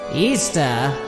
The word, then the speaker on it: Ishtar: But at its roots, Easter, which is how you pronounce Ishtar, is all about celebrating fertility and sex.